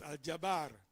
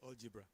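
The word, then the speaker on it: al-jabr: So it's alabar but European mispronunciation turned it into algebra.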